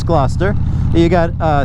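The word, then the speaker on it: Gloucester: And so we have towns that look like you know glut glutester or whatever and it's glouester.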